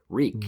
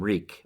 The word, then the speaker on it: Reek: The only time he doesn't is when he when Theon is reminding himself, I'm Reek. on it rhymes with weak or whatever.